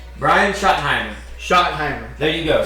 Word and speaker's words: Schottenheimer: Brian Schottenheimer.